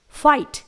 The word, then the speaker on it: fight: इसी तरह से कुछ और वर्ड्स हैं जिनके एंड में GHT आता है, जैसे FIGHT, फाइट। यहां पर हम GH को प्रोनाउंस नहीं करेंगे लेकिन T का प्रोनाउंस होगा।